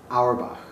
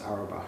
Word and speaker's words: Auerbach: at the house of how do you pronounce her last name alibi Auerbach mm-hmm Auerbach and we're here today to talk about your